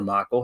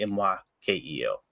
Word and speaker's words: Mykel: Is it Mykel or Michael? How would y'all say that? M-Y-K-E-L. I would say Mykel. That's how I've always heard that name pronounced, but I've heard people. I was listening to it. Could be Michael too, though, right?